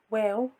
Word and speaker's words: واو: The letter Waw, which is like the letter W in English.